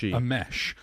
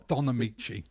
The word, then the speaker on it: Don Ameche: I thought it was a mesh, but apparently it's Donamichi.